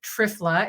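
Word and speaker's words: Triphala: One is start this supplement called TRFla. It's spelled T R I P H A L A.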